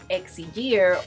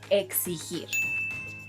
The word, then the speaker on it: exigir: Now let's go over verbs that are often mispronounced, such as, no, this is not pronounced either exigir or exigir. This verb, which means to demand, is pronounced exigir.